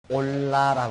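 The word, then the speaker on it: עֹלָה: 번제는 히브리어 문으로 올라라고 한다. 올라라고 그렇게 말하는데, 그것은 재물을 태우는 연가 위로 올란다는 뜻을 가지고 있습니다. 우리말 발음하고 비슷하죠. 올라 그러는데, 하나님께서 받자고 한 그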